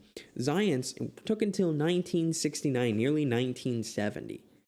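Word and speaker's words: Zajonc: what a name um spelled that way and pronounced zions zions took until 1969 nearly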